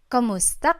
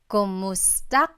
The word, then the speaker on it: kumusta: you in Tagalog, it's Kamusta ka? Kumusta ka? So it's spelled K-U-M, kumusta ka. But sometimes you might hear some people say kamusta ka, like it's a K-A sound.